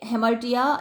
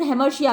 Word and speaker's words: हेमर्टिया: बता चुकी हूँ कि हेमर्टिया या फिर हेमर्शिया भी बोलते हैं कुछ लोग इसको, वैसे तो जो प्रॉपर प्रोनाउंसिएशन इसका हेमर्टिया ही है।